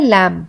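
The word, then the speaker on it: lamb: फिर है लैम्ब, लैम्ब में को हम लैम्ब पढ़ते हैं, लैम्ब नहीं पढ़ते हैं।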